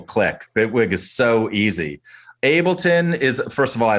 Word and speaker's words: Ableton: You mentioned connecting uh ad to I'm sorry Alex I keep mispronouncing it. Ableton Ableton.